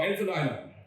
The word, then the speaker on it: Infinitum: one thing I want you to remember is Infinitum's Aircore EC motor system improves energy efficiency, reliability, and provides much needed versatility to your product applications and systems. So Infinitum, I think it's important to pronounce that a couple times.